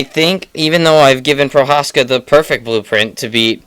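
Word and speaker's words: Procházka: Is that how it's pronounced? Prochazka, yep.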